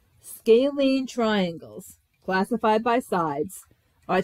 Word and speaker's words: scalene: first here's a new vocab word this is pronounced scalene scalene triangles classified by sides are triangles that have